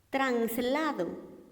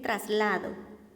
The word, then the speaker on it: traslado: por decir a ficción translado y lo correcto es decir traslado aereopuerto y lo correcto